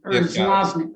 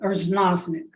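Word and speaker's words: Erznoznik: Okay, this is Erznozik. Erznozik.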